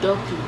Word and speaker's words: Duppy: not Guppy. I thought it was You guppy. said Guppy. I was like looking at you like, what is that? I was It's Duppy. Oh, Duppy. Yes.